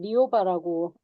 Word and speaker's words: 리오바: 저의 그냥 세례명인데 그대로 리오바라고 부르시면 되고요.